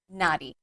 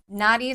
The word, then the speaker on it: nadi: We have a really cool shirt at the studio called naughty by nature but it's spelled nadi. I'm like what's up? That's just a little bit thug. I love it. Um so naughty naughty are energy channels that move through your body.